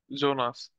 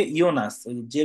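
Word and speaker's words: Jonas: পড়াশোনা করে অনেক এটা সিলকে জোনাস সিলকে ইওনাসের উচ্চারণটা হয়কে ইওনা জিলকেও না জিলকে ইওনাস জিলকে ইওনাস তো এখানে টেক্সগুলা পড়লাম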